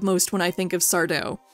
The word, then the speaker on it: Sardo: when i think of sardo they call me sato no mister accent on the dough vink i love ya